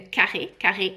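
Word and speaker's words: carré: An scarf is called a kar Hermes.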